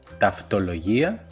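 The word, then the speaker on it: ταυτολογία: En el segundo caso se pueden pronunciar como af, ev, como por ejemplo en las palabras taftología, que significa tautología, o en la palabra lefgemia, que significa leucemia.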